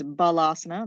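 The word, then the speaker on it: Balasana: this is child's pose the Sanskrit mispronounced is balasa like a ball rounded curled up and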